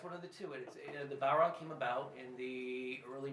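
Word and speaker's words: Bodhrán: actual name of it is the Bowron. Balron. Bowron, I guess, is the easiest way to pronounce it, which is, it's spelled Bodhran.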